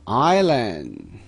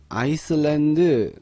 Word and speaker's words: island: 자, 발음을요, 사운드 빼시고 아일랜드, 아일랜드 이렇게 발음하셔야 됩니다.